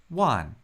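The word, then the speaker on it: 万: One. That's just a single syllable with a 4th tone.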